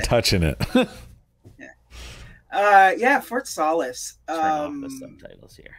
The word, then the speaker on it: Solis: I want to hear you pronounce what you think the title of Fort this game is. Solis.